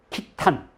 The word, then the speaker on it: 키탄: 사람들은 이걸 어떻게 읽었을까 저는이 발음이 가장 정확하다고 봅니다 키탄 왜냐하면 북방민족에 있어서 탄이라는